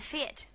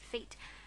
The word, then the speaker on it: fete: "Now, if we're fixed and ready to begin, the fete," well, Katy pronounced it feet, "can commence.